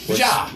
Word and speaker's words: Vitja: There's a band called, I want to be able to pronounce this right. Vidjar. Vidjar. Vitja. Right, it's Vitja. spelled Vitja. Yeah. Voyager. Now, none of us are German, but you know how It'll it be Vitja. Vidya. Yep.